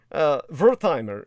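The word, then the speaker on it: Werthimer: Rather, Dan Wertheimer, Wertheimer actually is the more Germanic pronunciation.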